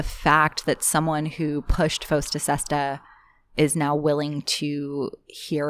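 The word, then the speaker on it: FOSTA-SESTA: Fosta Sesta. Fosta Sesta.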